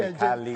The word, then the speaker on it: Khaleesi: Khaleesi.